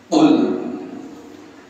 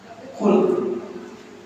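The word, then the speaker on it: قل: auzubillahiminasyaitanirrajim Qul huruf q ya kadang-kadang kita tertukar dengan ka kul kalau pakai Kak artinya jadi jadi Makanlah Qul auudubabbil Fala jadi kul Makanlah Coba kalau kita baca kalau kita dengar orang lain rata-rata dibacanya jadi ka Qul huallahu Ahad bukan Katakanlah berarti tapi makanlah mung sering kesadar termasuk saya sendiri kul pakai kok Qul Katakanlah inuntum tuhibbunallah bila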